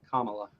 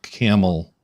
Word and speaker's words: Kamala: pronounced comma la la Kamala Kamala Kamala not camel my Kentucky accent makes me want to say Camala because that's how we talk here but that's how we